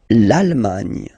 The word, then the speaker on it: Allemagne: L'Allemagne. L'Allemagne. Gna, gna, gna, gna. Remember this G and E, it can be quite tricky at the beginning to produce, I mean the sound N, okay?